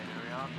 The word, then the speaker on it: Uriarte: He was placed by the number 51 of Brian Uriarte. Thanks for the correction in the pronunciation there.